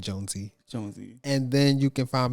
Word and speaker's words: Jonesii: jonesy that's j-o-n-e-s-i-i-i no y-i-i pronounce that jonesy and then you can